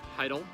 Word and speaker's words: Heydel: darren i'm standing with my good friend heidel i got it right there funny my good friend right i always mispronounce his last name and he drives him